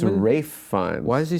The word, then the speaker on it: Ralph Fiennes: I always said Ralph, and I think it's Rafe. Let's look it up. Or Ray Fiennes, I used to say. This is a Berenstein situation. Yeah, Ralph Fiennes. So why do people say Ray Fiennes? Because that's how he pronounces his name.